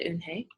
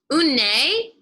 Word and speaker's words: Unhei: what's your name a girl asked hey said unhei un nei the girl asked scrunching up her face some